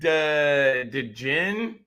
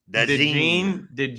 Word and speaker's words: DeJean: All right, Cooper DeJean. I think that's how you pronounce it. DeJean.